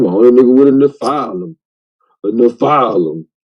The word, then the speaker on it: Nephilim: It's Nephilim. And then you pronounce it, Lance. You say Nephilim? Yeah, that's why you say the file. And then can't say Nephilim.